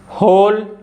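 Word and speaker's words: whole: एच आ रहा है पहला एग्जांपल है हु नेक्स्ट वन है हुज होल हमम तो इन वर्ड एग्जांपल्स में भी जो डब्लू है ना य साइलेंट है क्योंकि देखिए जो ह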